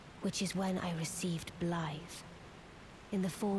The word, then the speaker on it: Blaidd: Apparently his name is pronounced Blaidd, not Blaidd, but Blaidd.